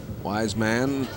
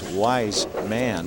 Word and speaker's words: Weissman: in the sixth frame wisan another strike I keep making that mistake with the pronunciation of his name it's wise man I wisman well I